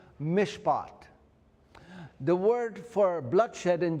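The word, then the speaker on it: מִשְׁפָּט: If you look at justice, the word in Hebrew for justice is pro is pronounced mishpot.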